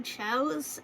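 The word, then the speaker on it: chao's: and to prove them wrong, to show how chows and chaos are pronounced differently.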